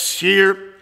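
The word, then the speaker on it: shiyr: that word for singers is shear s h i y r pronounced shear and get this this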